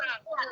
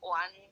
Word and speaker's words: 玩: 词典现在那一个丸只有一个丸的读音，所以叫玩物丧志。